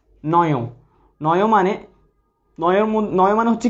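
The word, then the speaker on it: নঞ: আমরা আজকে আলোচনা শুরু করব নয় সমাস দিয়ে। ঠিক আছে, তাইলে আমরা আলোচনায় চলে যাচ্ছি। আচ্ছা, নয়, অনেকে এটাকে নং বলে। নং আসলে এটা সঠিক উচ্চারণটা হবে যে নয়।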